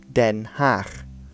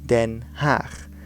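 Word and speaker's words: Den Haag: of the Netherlands is den half then half now again this G is a similar sound to the CH used in Schiphol now Rotterdam Amsterdam then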